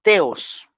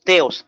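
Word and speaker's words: θεός: al Dios padre ahí la palabra Dios es teos en el griego teos t h e o s t h e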